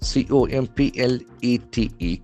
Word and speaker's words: complete: COMPLETE. Complete is a very important word which can act as a verb as well as an adjective. Complete. Complete. There are two syllables. Accent falls on the second syllable to make whole or perfect.